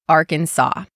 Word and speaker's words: Arkansas: Little Rock, Arkansas.